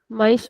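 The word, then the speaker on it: mais: Whenever we have s at the end of the word, then everyone will pronounce it as a soft s.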